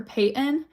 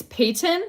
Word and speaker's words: Payton: Mountain, not mountain, is like how I say it, or Payton. Payton. Yeah, it's so weird. I get made fun of. I literally struggle with saying my name. It's Payton, but like I don't say the T, just like I don't say the T in mountain.